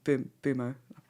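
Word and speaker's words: Mbeumo: out Moma instead and brought in mumo um bumo now realizing how to say his name um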